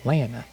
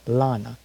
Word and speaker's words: Lana: her name right all this time was saying lena but it's actually pronounced lana as i watched a loud house on nickelodeon